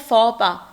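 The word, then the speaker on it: faux pas: इसका प्रोनाउंसिएशन होता है फॉपा, एक्स की प्रोनाउंसिएशन नहीं होती है, फॉपा है ये, ठीक है।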